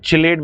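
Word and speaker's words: chelate: called as chilate Lian we call it kilate Lian actually this process called as kation but in order to like uh I usually pronounce it chilate because I love the sound chilate and just chill so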